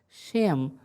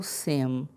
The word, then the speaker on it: Shem: Shem ou Sem, porque o Shim vai variar a sua pronúncia conforme a colocação de um pequeno sinal que nós não temos no texto original.